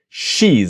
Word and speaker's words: she's: she's listen and repeat she's is. She's one syllable.